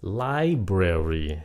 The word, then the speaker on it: library: là âm su super Library nhấn âm 1 librarian nhấn âm hai